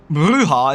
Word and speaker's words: bruja: Bruja is pronounced bruja. It's Spanish, I think, right? For witch? Bruja.